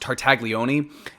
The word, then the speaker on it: Tartaglione: He was complaining that his cellmate at the time, I couldn't pronounce his name last time, but his last name is pronounced Tartaglione.